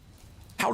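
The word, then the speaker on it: Hawick: Lind, I'm probably saying that completely wrong cuz my mom lives near Hoy, but Ho is spelled H A W I C K Howick, but it's pronounced Ho, so probably butchered it.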